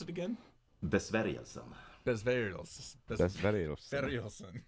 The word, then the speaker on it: Besvärjelsen: How do you pronounce it again? Besvärjelsen.